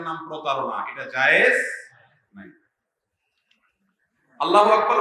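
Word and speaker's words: الله أكبر: আল্লাহু আকবার উচ্চারণ করার সময় আকবরের রাকে টেনে পড়া ঠিক হবে কিনা? না, ঠিক হবে কেন? তাকবীরের সাথে বলতে হবে আল্লাহু আকবার, আল্লাহু আকবার, এরকম বলা যাবে না।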